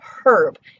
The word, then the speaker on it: herb: Or even the word herb, used to be herb. We used to give it that H sound, but it's so subtle, and the vowel has become so important to that word that we've almost stopped pronouncing the H altogether.